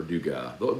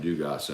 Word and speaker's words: Dugas: The Gavin Dugas thing has really thrown me off. It's made me habitually pronounce the S now, but I think that's the only Dugas that I know that pronounces the S.